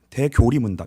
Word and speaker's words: 대요리문답: 중요한 정체성이 된다는 거예요 그래서대 요리 문답은 대교리문답 이거 대교리문답이라고 이제 발음을 해요 대요리문답은 사역자들을 위해 작성된